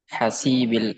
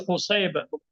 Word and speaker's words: Husaib: Tapi yang saya tahu Buraidah Ibnul Husaib pakai dommah h-nya ya, bukan pakai fathah.